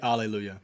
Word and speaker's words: Alleluia: The word Alleluia is a transliteration. I did know that. And there's no... did you know that there's no H sound in that word, too?